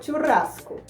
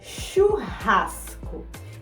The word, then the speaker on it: churrasco: Percebam que a pronúncia é diferente, né? Em espanhol é churrasco, em português é churrasco.